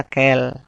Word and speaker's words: quel: Sama, semuanya itu sama dibacanya kel.